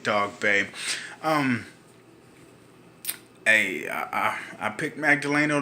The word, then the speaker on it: Dogboe: a fight from Isaac talk Bay I do apologize I've been pronouncing his name wrong the whole time but we got it right Isaac dog babe um hey I picked